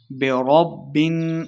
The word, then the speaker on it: برب: میں فرق کرنا ہے۔ برب، را کو با کے ساتھ ملائیں گے۔ برب الناس، نون مشدد